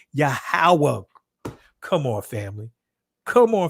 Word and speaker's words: Yahweh: like UA or U Yahweh is less likely to be an accurate pronunciation of the tetran a more plausible reconstruction considering the Conant vowel pattern and simpler vowel insertion would be yahawa come on Family come